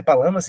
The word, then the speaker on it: Palamas: É Palamas que se pronuncia? É Gregório Palamas.